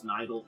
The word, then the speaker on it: Nidal: It's also pronounced, Nidal. Nidal. I keep trying to call it Nidal. It's Nidal, technically.